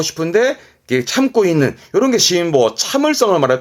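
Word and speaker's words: 辛抱: 매운 거를 참고 안고 있는 뭐 그런 느낌인데요 발음은 심보 심보 심보 이 한자의 뜻은 요런 느낌이세요 앞에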